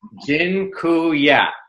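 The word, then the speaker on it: dziękuję: much awesome and uh jinu Ya by the way I just taught you all the Polish word for thank you it's jinya that I'm not goingon to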